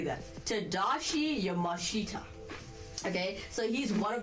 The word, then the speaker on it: Tadashi Yamashita: Tadashi Yamashita.